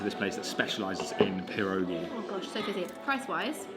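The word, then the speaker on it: pierogi: You didn't roll the R. Perogi.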